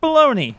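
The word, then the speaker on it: bologna: It looks like bologagna, but it's it's pronounced baloney.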